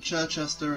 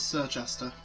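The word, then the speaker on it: Circhester: how to say this it's not churchester it's sir chester anyway pretty sure i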